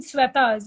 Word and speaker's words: Sweta: mine all the shwetas I'm a sweater actually and there's there's some difference like Salve is always so they're different pronunciations but I guess I'm the only one without an H uh like when I introduce myself to my American friends here I say it's like a sweater without the r and then they